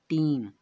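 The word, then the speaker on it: team: तब हमें टी ई एम को पढ़ना है, जिसका उच्चारण होता है टीम।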